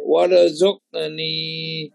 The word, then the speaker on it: وارزقني: আমার জালের উচ্চারণটা وارزقني এটা শক্ত করে পড়তে হবে, জালের উচ্চারণ এটা শক্ত করে পড়তে হবে। হ্যাঁ সেটা وارزقني কিন্তু জিমের মতো বেশি শক্ত না, হালকা শক্ত না?